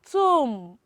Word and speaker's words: tomb: and number four is tomb and the silence letter is what is letter b and you know let's